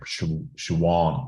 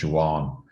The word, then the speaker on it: Siobhan: she pronounces her name she won because where she's from BH is W so she pronounces her name Juan and she she translates